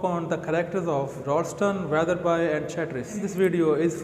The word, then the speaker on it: Wetherby: Many people pronounce it Weatherby, but I have checked, this is Weatherby.